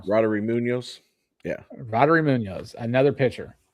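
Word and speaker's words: Roddery Muñoz: Roddery Munoz.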